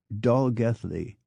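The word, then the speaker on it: Dolgellau: from an English-speaking perspective the town of d o l g l l Au U for instance is pronounced Dolly while l l a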